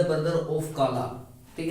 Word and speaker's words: कला: इज the brother of काला। ठीक है। इसको KALA को काला पढ़ेंगे। ठीक है। ये दोस्तों कला है, कला की मीनिंग भी क्या होती है, KALA ही होती है।